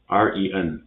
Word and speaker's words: 人: The last one, REN. R is a consonant. It will have the same pronunciation as the S in vision. Z, like this. So EN will have the same pronunciation as pen. So if we put Z and N together, it will be ren with a second tone. Ren, ren, ren.